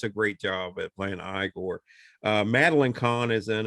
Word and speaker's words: Igor: i see you must be igor no it's pronounced igor but they told me it was igor well they were wrong then weren't they marty